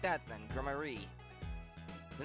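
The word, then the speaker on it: Gramarye: It's pronounced like that then, Grammarier.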